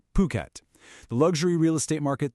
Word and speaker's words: Phuket: And just so we're all on the same page, it's pronounced Phuket.